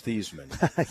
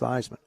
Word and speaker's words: Theismann: I said, "It's Thiesman." He said, "No, it's pronounced Theismann." I said, "No, it's not. It's pronounced Thiesman." He said, "No, Joe, your last name is pronounced Theismann."